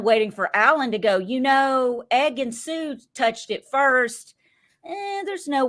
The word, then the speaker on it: Ekin-Su: And what I saw was, God, how do you pronounce her name again, Jack? Ekin-Su. Ekin-Su. I'm sorry, I'm Southern. I can't really speak English. Think it's Southern. Think it's Southern. Ekin-Su.